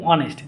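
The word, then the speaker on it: honest: কি বসে আ বসে পরবর্তীতে দেখো এইচ এইচ অন এর উচ্চারিত থাকলে মানে এইচ টা উচ্চারিত হয় না এমন যদি কোন কনসোনেন্ট হলেও এন বসে এতটুকু মনে রাখবা তোমাদের মনে রাখার জন্য যেমন কি অনেস্ট যেমন কি আওয়ার আওয়ার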